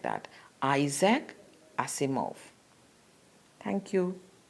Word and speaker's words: Asimov: not know not any it was going to pronounce Isaac not exact or something like that Isaac I see move thank you